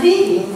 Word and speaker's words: leaving: I'm leaving, we say. Once again. I'm leaving, we say. Leaving, not living.